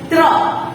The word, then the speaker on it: त्र: देखो, र का उच्चारण भी मैं कर रही हूँ, यानी कि इसके अंदर कहीं ना कहीं र भी छुपा हुआ है। त्र। तो त और र का उच्चारण मैं यहाँ पर कर रही हूँ, राइट?